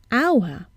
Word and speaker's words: hour: We see an H, but we hear a vowel sound at the beginning, hour, and not hour.